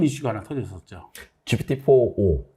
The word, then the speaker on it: GPT-4o: 옴니버스 할 때 옴니의 O인데 그래서, 네. 어떤 분들은 GPT 4.0 막 이렇게 발음하시는 분들이 있고 많이 헷갈려 하시더라고요.